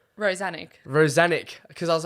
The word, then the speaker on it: Rozanic: well, when my grandpa migrated from Croatia, no one could pronounce Rozanic, so he just ditched the itch and it's Rozanic.